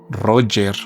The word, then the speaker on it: Roger: El general o Roger, Roger es la pronunciación correcta, Roger Ramey, convocó una rueda de prensa en Forward y mostró otros restos.